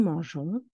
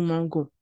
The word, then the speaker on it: mangeons: mange on mange nous mangeons vous mangez ils mangent elles mangent sans la lettre E la prononciation serait nous Mango mais nous voulons nous mangeons donc nous ajoutons l'autre